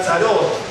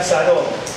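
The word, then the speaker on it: צרות: En plural no es sar, sino sarot. Son las angustias, las opresiones. Ahí donde dice angustia, en el verso 7 es el plural, ¿no es cierto? De tzar, entonces sería tzarot, en realidad se escribe así.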